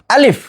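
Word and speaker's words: ألف: 2 ঠোঁট খোলা রেখে হালকা বাতাস বের হবে এবং দ্রুত উচ্চারণ হবে।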